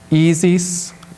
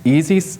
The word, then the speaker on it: Isis: This is the famous image of the gods, as I pronounce auf Deutsch for you, Isis and Osiris. So listen for that from the priest, Isis and Osiris, tonight.